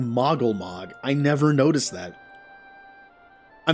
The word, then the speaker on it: Moggle Mog: thought he mispronounced it the name is not good king moogle mog it's good king moggle mog i never noticed that